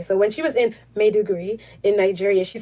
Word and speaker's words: Maiduguri: she was back in Maiduguri which is in Nigeria I'm pronouncing it incorrectly she said madhugiri okay so when she was in may degree in Nigeria she said